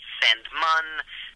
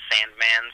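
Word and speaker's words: Sandmann: it's a family name it's not spelled the way it sounds it's it's it's German it's technically pronounced sand mun there's two n's at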